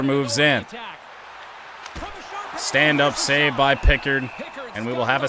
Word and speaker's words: Pickard: And it's saved by Picard. Oh, wait, I forgot. Everyone had been saying his name wrong for years. It's actually Pickard. That's a weird one.